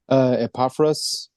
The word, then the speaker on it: Epaphras: Epaphras, it was a gentleman named Epaphras. Este hombre, Epafras, había sido, se había convertido al cristianismo en uno de los viajes misioneros de Pablo. Epaphras had become one of the missionary disciples that